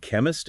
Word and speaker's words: chemist: Different meanings and chemist and chemistry. The fisser is a hard K sound. Sex sexry. Not like in chef. Yeah. Like character or school.